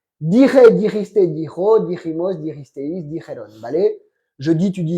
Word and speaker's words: dijeron: La prononciation du verbe. Oui. Dire, diriste, dijo, dirimos, diristeis, dijon. Dijeron.